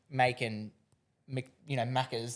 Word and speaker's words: Maaken: Maaken, Maccas. There's been lots of people variations of it. So as long as you're talking about us, we're happy. But that's awesome. Maaken is how we would pronounce it.